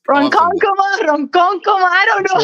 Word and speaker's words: Ronkonkoma: It's so bad for like pronunciation point 0. The way you say it's Ronkonkoma, Ronkonkoma. I don't know how to say it. Ronkonkoma.